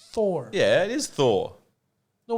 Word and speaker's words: Thor: and they were like it's not tor it's thor no but they were like you're too immigrant it's not tor it's thor yeah it is thor